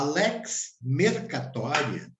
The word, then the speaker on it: Lex mercatoria: Lex mercatoria e e se você pode pronunciar helix separado mês catoria a Lex mercatoria e é uma inovação